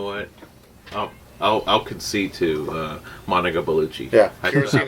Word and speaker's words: Bellucci: Monica Bellucci, or Bellucci is how you say her last name.